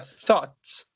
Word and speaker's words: thought: E embaixo eu pego o TH e ponho um ought, que fica thought.